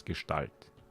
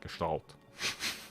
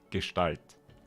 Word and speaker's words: Gestalt: In German it's Gestalt. Not Gestalt. It's just Gestalt. That's so English.